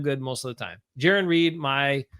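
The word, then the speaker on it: Jarran Reed: Not Jaron Reed, like a lot of people said early on. It's Jaron Reed. And Jaron rhymes with Darren, is doing pretty well.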